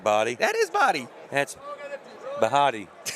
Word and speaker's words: Bahati: It's Body. That's how you say it, Body. That ain't Body. That is Body. That's Bahati.